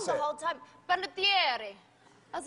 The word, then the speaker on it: Panettiere: Panettiere. Panettiere. It's tough. You know, they actually pronounce it better in Italy.